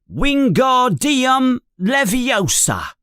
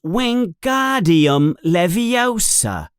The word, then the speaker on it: Wingardium Leviosa: You're saying it wrong, says Hermione in an impatient voice. It's Wingardium Leviosa. You emphasize the gar.